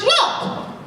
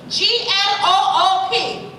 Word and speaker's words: Gloop: Poop, may we have a word? Their name is pronounced Gloop, with a G and an L and an O and another O and a P. G-L-O-O-P.